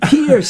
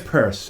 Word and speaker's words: Peirce: have the reverend pierce did i say pierce right no it's purse purse see i said it wrong last time yeah it's a weird yankee thing yeah i'm gonna just